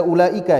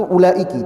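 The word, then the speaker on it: أولئك: Ulaika sirarul khalqiallah." Mereka kata Rasulullah atau di tadi saya baca ulaika ya, bisa juga dibacanya ulaika, bisa juga dibaca ulaiki. Yang lebih fasih yang lebih tepat itu ulaiki.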